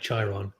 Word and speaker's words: Chiron: Alicia oh Alicia summerstral just pronounced the sure like cheron okay the CH like chai chai Chiron Chiron Chiron okay we